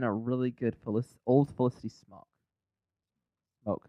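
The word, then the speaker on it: Smoak: It's smoke. It's I'm not saying Smaug. Smog. Smaug. Well, if you think about how the word is spelled, it throws me off every time. Smoke doesn't have an A in it.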